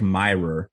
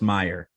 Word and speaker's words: Meyer: mirror I'm like no you don't need to say that extra R buddy do you mean